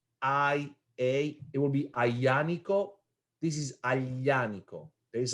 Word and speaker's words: Aglianico: You gotta put your tongue on your palate and say yeah. Aglianico. So it is silent, but if it was A, it will be Aglianico.